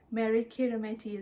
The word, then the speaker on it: Meri Kirihimete: Meri Kirihimete. Merry Christmas. Yeah. Meri Kirihimete is how you say it in Today O Meri.